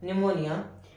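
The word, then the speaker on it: pneumonia: अब इसका रिजल्ट जो होगा, एक आदमी वेरियस इन्फेक्शियस डिसीजेस, ऐसे ही काफी सारी इन्फेक्शियस डिसीजेस जैसे कि निमोनिया, पी साइलेंट होता है, निमोनिया, after it tuberculosis, TB लिख देते हैं हम इसको, फीवर जैसी और बीमारियां होंगी।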